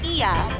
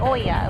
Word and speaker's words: Oia: And we learned it's pronounced Ia, not Oya, like it's spelled.